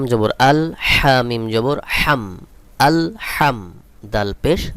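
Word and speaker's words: الحمد: হামজা লাম জবর আল হামিম জবর হাম আল হাম দাল পেশ দু আল হামদু এখানে যে হা রয়েছে এই হালকের মধ্যখান থেকে উচ্চারণ করতে হবে।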